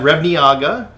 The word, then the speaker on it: Revniaga: I'm here with Vlad Revniaga. Is that how you actually pronounce? That is correct.